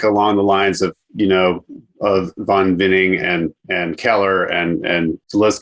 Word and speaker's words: Von Winning: It's Von Winning. The V is pronounced like an F. Von Winning. Von Winning.